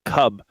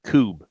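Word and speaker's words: kubb: How did they spell it? K-U-B-B. Spelled like cub, but it's pronounced like coob.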